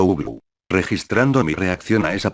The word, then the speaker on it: Ubloo: Porque no quiero ver a Uglo, respondió, pronunciando Uglu.